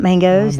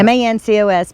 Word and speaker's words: Mancos: No, not Mangoes, because there's no G. You're Yeah. thinking Mancos. Yeah. Mancos, but it's pronounced Mancos, according to Diane at Albuquerque North KOA.